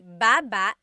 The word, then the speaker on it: baba: So depending on how you're saying it, it could be baba, chin, baba. Emphasis is on the first syllable, baba. Then there's babba babba. Emphasis is on the second syllable syllable that means to go down.